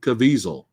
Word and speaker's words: Caviezel: pretty good villain in this movie um jim cavill i'm sorry jim caviezel sorry if i said his name wrong but yeah watch how he even speaks